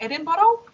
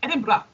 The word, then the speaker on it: Edinburgh: a bottle like we we try to like pronounce it like edin bottle but not the people were like what what did you just say and we were like no they were like Edinburgh I think like you have to like pronounce it very very fast you know and nobody